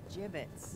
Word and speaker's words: gibbets: Hey, look, Avery had some gibbets left over. Gibbets. What? It's pronounced gibbets.